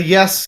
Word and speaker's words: Ys: ease series y yes cuz it's spelled and pronounced weird yes the yes series yes 8 uh